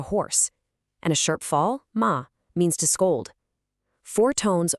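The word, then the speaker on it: 妈: Say it high and flat, ma, and you're saying mother.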